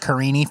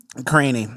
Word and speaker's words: Karine: But I always say it like Karini from the 90 Day Fiancé guy. Karine.